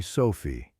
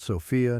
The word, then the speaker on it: Sofi: Since I was a child, everyone has called me Sofi. Not Sophia, not Sophie, Sophie. 4 letters, 2 syllables.